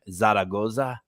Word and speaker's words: Zaragoza: are looking at Andrew uh I hope I pronounce this right because I'm really excited about your last name Zaragoza yes sir God what a great last name